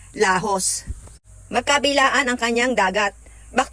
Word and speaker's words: Laos: andito na kami sa lajos Island Ang ganda ito ang lajos Island ng Caramoan kung i-spell mo siya ay l a o s pero ang pronounciation daw doon ay lahos magkabilaan ang kanyang dagat